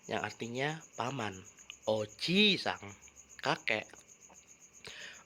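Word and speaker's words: おじいさん: Perlu minasang perhatikan, bunyi vokal panjang dan pendek membedakan makna atau arti. Contohnya adalah oji-sang yang artinya kakek dan oji-sang yang artinya paman. Oji-sang kakek, oji-sang paman.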